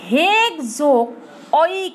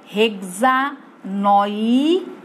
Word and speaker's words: হেক্সানোয়িক: এখন মূল শব্দ কি তোমার হেক্স, এই হেক্সোক অয়িক অ্যাসিড, এটার উচ্চারণ হয় হেক্সা নয়িক, হেক্সা নয়িক অ্যাসিড।